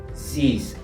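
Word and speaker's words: six: número seis se dice zis zis en este caso la x se pronuncia como si fuese una s en el francés pasamos al número sete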